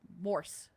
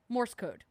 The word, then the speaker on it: Morse: message is for the Morris code or not Morris. I keep saying Morris. Mor uh Morse. I've I've said it wrong my whole life, honestly. Morse code.